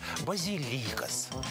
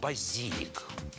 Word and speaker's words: базилик: Некоторые старинные словари действительно приводили ударение «базилик». Проблема та же, слово заимствовалось через французское посредничество. Во французском на последний слог «базилик» с ударением на последнем слове, обратите внимание. Но в латинском-то было «базилик» с ударением на второй. Сейчас только «базилик».